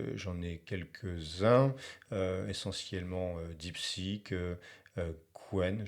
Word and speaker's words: Qwen: Donc ici, j'en ai quelques-uns, essentiellement DeepSeek, Qwen, je crois qu'il faut prononcer Chen, mais enfin, j'en suis pas très sûr. Donc Qwen ou Chen, et puis j'ai ici Gemma, donc c'est Google, hein.